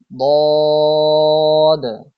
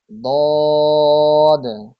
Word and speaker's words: ضاد: 7 number মাখরাজ, জিহ্বার গোড়ার কিনারা উপরের মাড়ির দাঁতের গোড়ার সঙ্গে লাগিয়ে উচ্চারিত হয় ضاد। আরো একবার উচ্চারণ করি, ضاد।